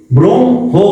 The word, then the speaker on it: ব্রহ্ম: যুক্ত বর্ণের হচ্ছে এইটা কিন্তু যখন তোমরা ওই যুক্ত বর্ণটা উচ্চারণ করতে যাবে তখন শুরুতে আসবে ম পরে থাকবে হ এই কারণে হইতে কিন্তু দেখো ব্রহ্ম হো বিষয়টা বুঝছো ব্রম হো কেন হলো তারপরে আছে দেখো উত